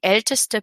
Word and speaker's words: älteste: Donc, on va ajouter un E entre les deux, juste pour bien entendre le ST.